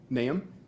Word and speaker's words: Nahum: Naam. Okay. How do you spell it?